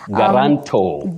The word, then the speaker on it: guarantor: Guarantor. Guarantor. All right. You say guarantor with a stress on the last syllable.